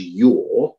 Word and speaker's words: Yea: Lacey Yea, Y-E-A, who for reasons best known to himself pronounces his name as Yaw.